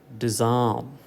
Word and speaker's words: disarm: Okay, so how do you pronounce these words? Disarm, okay, dismiss, disturb, distress, disgrace.